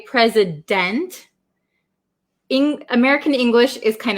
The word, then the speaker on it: president: can say pray pray so this has like a z sound present didn't so we don't usually say president in american english is